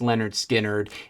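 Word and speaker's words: Lynyrd Skynyrd: skinnard release as part of their debuted album pronounced Leonard skinnard in 1973 freeberg quickly became a signature song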